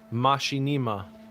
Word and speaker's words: Machinima: Kara said, how did this man just pronounce Machinima? Did you do it wrong? I said it like that. Machinima.